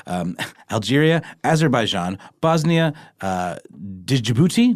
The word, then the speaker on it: Djibouti: Um, Algeria, Azerbaian, Bosnia, uh, Djibouti, Djibouti, yes, that's a the D is silent.